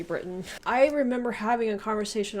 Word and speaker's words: Britain: I had somebody say that I was saying Britain. Like, I'm supposed to pronounce the T in it. You know, that's how you guys do it over there. Yeah, Americans are a bit lazy. We just say Britain.